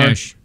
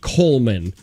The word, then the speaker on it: Coleman: Coatmish? It's Coleman. It's pronounced Coleman. Wow. Like the grill.